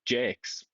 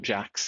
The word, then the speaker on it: Jakes: Apparently his name is also Jakes, Jason Jakes, not Jax, even though it's spelled like Jax.